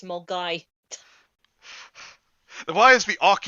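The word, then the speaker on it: Milngavie: And it's not Milmgavi, it's Mulgai.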